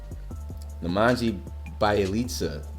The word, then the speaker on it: Nemanja Bjelica: Nemanja Bjelica is how you say his name.